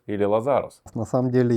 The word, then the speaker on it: Лазарус: как же всё-таки правильно лазарус или лазарус на самом деле я предпочитаю ставить ударение на первый слог кто-то может быть на